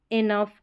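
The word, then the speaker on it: enough: जैसे इन स्पेलिंग्स में अगर T रहेगा तो साइलेंट। तो ये हो गया लाफ, इनफ, और ये टफ, इस तरीके से।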